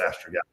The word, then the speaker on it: astragalus: And it's funny, estrogen, or people pronounce it different. I call it astragalus.